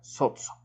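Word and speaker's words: σῴζω: la palabra salvado es soso. S o z o sotso, así como se tendría que pronunciar, sotzo.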